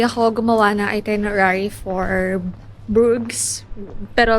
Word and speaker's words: Bruges: Hindi ako gumawa ng itinerary for Brooks pero like they pronounce it like Brook.